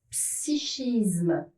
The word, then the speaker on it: psychisme: me demande pas pourquoi, psychisme et psychique ne prend pas la sonorité que, on retrouve le che.